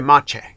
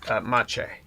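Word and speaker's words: Maciej: please let me know how do you go about saying it Ma Ma you know Ma okay Mach I'll remember that I'm G to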